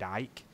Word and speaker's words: Icke: of mainstream by the British British celebrity David Icke sometimes pronounced David Icke spell IC ke who reported on this and